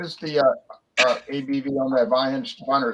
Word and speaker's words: Weihenstephaner: Now, John, what is the ABV on that Weihenstephaner? It's 5.8, right? Correct. I just remember Okay, that. say it again. I'm sorry. I'm going to try to pronounce it correctly. Weihenstein.